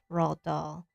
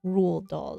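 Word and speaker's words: Roald Dahl: I love Rald Doll. I think I don't know how to pronounce his name. It's Rule actually. rule doll or something like I used to call him Rald Rald Doll.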